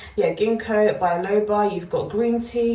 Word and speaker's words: Ginkgo: cherry, you've got Ginkgo biloba, I think I'm pronouncing it right, is it Ginkgo? Yeah, Ginkgo biloba, you've got green tea, you've got fig, and you've got Quince.